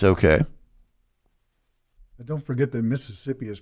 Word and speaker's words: Mississippi: But don't forget that Mississippi is pronounced Mississippi when you're from Mississippi. Okay. It's one less syllable, Mississippi.